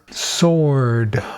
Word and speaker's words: sword: It is silent W's. Oh man, that took me a while. Sword.